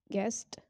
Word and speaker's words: guest: it comes after g the letter u is not pronounced when it comes after g and before a world in a word like guide guest god guess so here